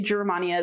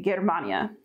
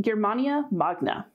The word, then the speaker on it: Germania Magna: word it's germania magna latin doesn't have soft gs the way that we do so they wouldn't say germania they would say germania so germania magna here we have lokoritum